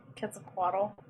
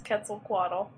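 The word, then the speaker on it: Quetzalcoatl: Wait, did you just mispronounce Kaquaddle? Maybe. Well, we're let's be honest. We're all probably mispronouncing it, but that's an especially egregious one. No, it's Ketzel Quaddle.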